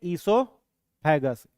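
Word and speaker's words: esophagus: Grass नली second paramyxo 3 ए आर ए एम वाई एक्स O heading बनाइएगा second इससोफेगस इसमें ओ silent है क्या पढ़ेंगे इसो फेगस ग्रास नली इसको सामान्य बोलचाल की भाषा में फूड पाइप भी कहा जाता है।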